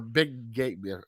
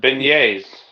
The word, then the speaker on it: beignets: Louisiana beignets or big gate. I don't even know how to pronounce it. Beignets. Beignets. There it is.